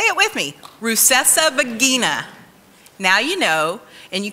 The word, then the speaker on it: Rusesabagina: It's Rusesabagina. Say it with me. Rusesabagina.